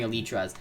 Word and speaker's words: elytra: a light they can be seen there wearing elytraz they jump over the edge and fly down